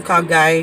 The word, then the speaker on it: Kha Gai: I keep saying it wrong. Kha Gai. Is it Guy? Yeah. Or is this Tom Cock? No, it's Kha Gai.